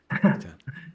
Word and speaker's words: Eithan: it's spelled Ethan because it's a Hebrew name, but it's pronounced in German phonetics.